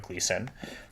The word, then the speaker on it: Gleason: paper by a fantastic linguist named Jean Berko Gleason.